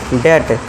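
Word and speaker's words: debt: तो यहां पे हम क्या करेंगे बी को साइलेंट करेंगे और उसी क्या पढ़ेंगे हम डेट डी ई टी बी को भूल जाइए तो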